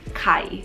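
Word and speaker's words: ไข่: But by the way, you can just call me Kai, like Kai. If you really, really gonna pronounce it in Thai, it's Kai. Why, you may ask?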